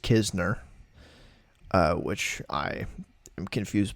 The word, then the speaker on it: Kizner: It's spelled KN like Kisner, but it's just Kizner.